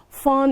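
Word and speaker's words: fawn: someone for material gain or to curry favor fun is f f-a-w-n when i hold the baby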